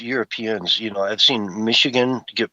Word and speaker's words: Michigan: And man, you watch Europeans, you know, I've seen Michigan get pronounced oh so many horrible ways. Stepped on left and right. Mishi Mishihagen, you know, just uh all kinds of different